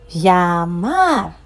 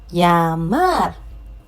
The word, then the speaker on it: llamar: Any word ending with a consonant apart from N or S has the stress on the last syllable.